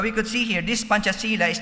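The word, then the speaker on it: Pancasila: If you're familiar with that, P A N C A S I L A. Panchasila because they pronounce C as CH. Panchasila which is the official state ideology or philosophical foundation of Indonesia.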